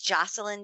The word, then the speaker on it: Joshilyn: your website sure it's my name is spelled oddly estas illan but it's spelled Jo Sh ily in so it's Jocelyn Jackson comm or you can find